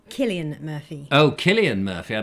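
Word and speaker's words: Cillian: griffin is correcting me it's pronounced with a k so it's killian murphy oh killian murphy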